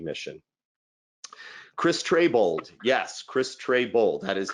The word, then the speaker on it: Trebold: Chris Trebold, yes, Chris Trebold, that is how you pronounce it.